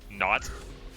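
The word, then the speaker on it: Naut: Aussie, hop on my favorite intermediate map, Not. That's spelled N-A-U-T.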